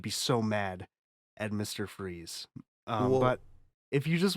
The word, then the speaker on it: Fries: Also, I love that his name is his actual name is Fries, but they just pronounce it Freeze.